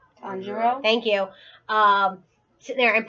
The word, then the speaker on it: Tanjiro: Tanjiro?